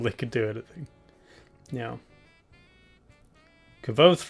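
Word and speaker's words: Kvothe: Kvoth rhymes with both.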